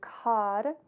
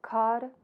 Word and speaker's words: Kar: This is really pronounced more like a D. So Kar and Tar.